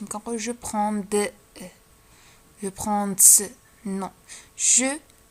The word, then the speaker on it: prends: je prends لاحظتو دي ما كنطقوهاش، ما كنقول je prends de je prends non je prends.